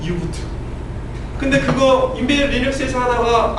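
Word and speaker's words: U-Boot: 표준의 부트로드 만들자라고 해서 유니버셜 로드라는게 있어요 발음은 유부트 근데 그거 인벤 리스에서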